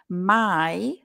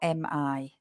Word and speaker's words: my: My, the pronoun is my with a y, not mi, like in Spanish.